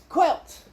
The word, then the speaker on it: quilt: Say quilt. Make sure you pronounce the T. Quilt.